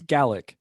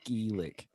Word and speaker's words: Gaelic: Lauren also speaks a little bit of the Gaelic, as they say, because that's how it's pronounced. Because if you're from Scotland, it's Gaelic. Only Irish people say Gaelic.